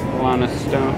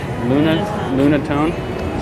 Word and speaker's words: Lunatone: Lana Stone. Or what is that? Lunatone. So yeah, I said it wrong the whole time.